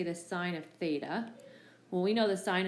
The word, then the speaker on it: theta: see often in math especially for trig is pronounced theta in standard position and it has a point